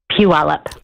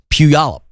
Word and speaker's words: Puyallup: way to say that pewallop puyallup did i say that better yeah you say that like the yell with a wha oh okay okay very